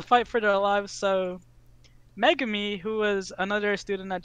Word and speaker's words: Megumi: To see Megumi, that's how you pronounce it.